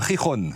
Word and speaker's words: Gijón: Ah, on est à Gijón. Gijón. Voilà. Ça s'écrit Gijón.